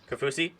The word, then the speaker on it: Kaufusi: i do not embarrass ourselves no yeah uh capousie cafusi okay all right i always embarrass myself regardless